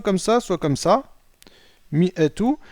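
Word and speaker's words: مائة: Mi'atu. Et dans tous les cas, le alif ne se prononce pas lorsqu'on le lit.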